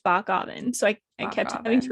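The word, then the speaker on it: Bockoven: bockgavin um his name his last name is bach oven but it's pronounced bach alvin so i kept having to redo that part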